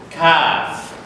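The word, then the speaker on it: كاف: And this letter is Kaf. Kaf. Kaf. It is normal K in English.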